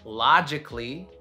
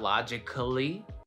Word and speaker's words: logically: The A is silent basically in A-L-L-Y endings, like basically. It's not basically, right? It's basically. Basically. Logically, not logically.